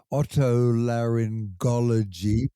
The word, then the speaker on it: otolaryngology: also that I was possibly pronouncing the word otolaryngology, perhaps with the soft G, not a hard G.